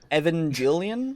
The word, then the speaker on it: Evangelion: most of the pronunciation, yeah. I don't even fucking know how to say it. Evangelion. Evangelion, that's right.